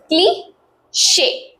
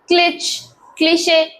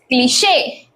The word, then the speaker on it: cliché: Word करते हैं यूज cliché. Next, we have debut, which is a French word.